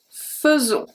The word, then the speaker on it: faisons: The next one, very important one, when AI is going to be pronounced as a E. And this is mostly for the verb faire, to do, to make, when it's conjugated. So let's see. Nous faisons. Faisons.